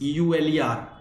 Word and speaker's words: Euler: It's E U L E R. Okay, it is pronounced as Euler, but it is E U L E R.